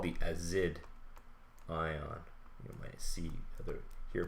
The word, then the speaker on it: azide: So let's take this nitrogen here, and this is called the azide ion. You might see hear people pronounce it azide.